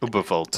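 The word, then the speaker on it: Überwald: I think I said that name wrong, but... Ubervolt. Like, Ubervolt. Yes, hit those Vs, man.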